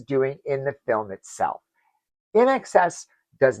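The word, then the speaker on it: INXS: So then there's in excess, their cut, do what you do, not what you do, wh that's how cool the 80s were. Everybody spelled things phonetically or just plain wrong.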